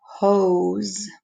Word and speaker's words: hose: Then I have hose. Hose. Hose. I can hear the O and there's a silent E. The O is saying its name, so it's a long O sound.